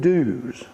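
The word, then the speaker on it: Dewes: is the forerunner of Due West, and they spell it about 6 different ways. The fellow's name was William Dews, D-E-W-E-S.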